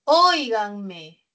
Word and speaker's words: óiganme: La siguiente palabra es óiganme. Óiganme. También es esdrújula. Es esdrújula, ¿no? Está en la antepenúltima sílaba del acento.